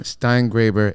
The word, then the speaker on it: Steingraber: Like, won't you be my Graber? Right? Won't you be my Graber? I've never heard of that. But that's how you pronounce it? Steingraber, yeah. Okay, I was just making sure. It rhymes with neighbor.